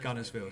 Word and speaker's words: Guntersville: was corrected you don't you don't pronounce the T when you say you got to do in the right accent and just call up Guntersville so yes I am